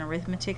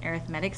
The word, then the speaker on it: arithmetic: have heard of as somebody pronounce it as an arithmetic sequence because you spell arithmetic and arithmetic the same way but it's actually an arithmetic sequence and when you